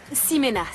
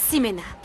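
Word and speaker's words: Ximena: Toi, c'est Chimena, c'est ça? Simena, ça se prononce Simena.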